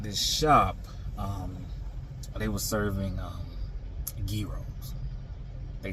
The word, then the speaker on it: gyros: They were serving gyros. They said it's not pronounced gyro. They said it's gyro.